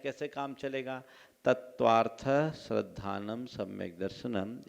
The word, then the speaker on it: तत्त्वार्थ: तत्वार्थ श्रद्धानम सम्यक दर्शनम, इस उच्चारण में थ में आधा स नहीं बोलना है। तत्वार्थ, थ पर हल्का सा विराम और स्ट्रेस जोर देना है।